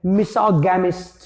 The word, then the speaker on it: misogamist: Spelling MISANTHROPE। दूसरा शब्द है मिसोजिनिस्ट। क्या है? मिसोजिनिस्ट। MISOGYNIST, मिसोजिनिस्ट। और तीसरा शब्द है मिसोगैमिस्ट।